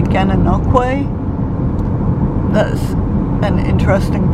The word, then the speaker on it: Gananoque: and Lisa told him Gananoque, and so he corrected us, and it's apparently Gananoque.